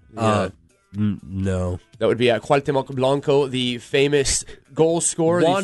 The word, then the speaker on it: Cuauhtémoc Blanco: I'm going to let you go ahead and pronounce his name. Yeah. No. That would be Cuauhtémoc Blanco, the famous goal scorer, the famous Monte Blanco.